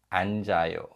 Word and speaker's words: 앉아요: And in the second word, we have 겹받침, and the silent consonant in the 겹받침 is carried over to the following syllable. So it's read 앉아요, 앉아요.